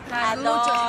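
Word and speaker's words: Carluccio's: Carluccios.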